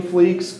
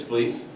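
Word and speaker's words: Fleecs: introduce them we've got Tony fleeks cover artist for the comics it's fleece oh fleece I'm so sorry about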